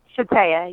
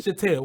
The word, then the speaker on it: Shataya: But it's Shataya? Shataya, yes. Shataya, woo, I said it right.